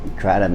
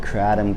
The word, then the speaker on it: kratom: the debate is it kratom kratom whatever in it comes from southeast asia in southeast asia the southeast asians call it kratom it's just they emphasize the tom instead of am or um it's chris hall and